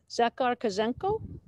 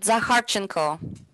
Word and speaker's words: Zakharchenko: Zakhar Kazenko? No, it's Bridget Zakharchenko.